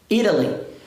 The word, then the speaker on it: Italy: Então, esse T que está entre vogais vai ter som de R. Ó. Italy.